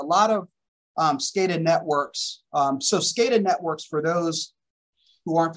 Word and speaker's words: SCADA: as php etc that's right yeah so it's scada um so data thank you and and george is correct i do see that comment a lot of stated networks so scada networks for those who aren't familiar with the